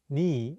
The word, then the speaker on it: 네: meaning you're, sometimes pronounced ni in Korean? 네 is the shortened version of the casual possessive 너희, meaning you're. It often gets pronounced as ni instead of 네 in spoken Korean.